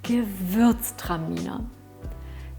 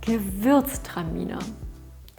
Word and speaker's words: Gewürztraminer: minute put on your headphones relax and listen give birth stamina give birth time you know give birth terminal give birth time Nina give